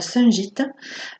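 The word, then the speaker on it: Shungite: qui est la Sungite. Alors ça s'écrit S-H-U-N-G-I-T-E, qui est aussi une pierre noire.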